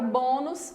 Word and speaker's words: bônus: A palavra bônus é acentuada por ser uma palavra paroxítona terminada em us. Então, vamos ver se ela é paroxítona mesmo. Bônus, 2 sílabas. E a sílaba mais forte é a penúltima.